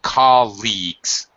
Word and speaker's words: colleagues: the other one was colleagues only two syllables colleagues first syllable St colleagues it's a e sound with the GG like gun colleagues okay anyway uh okay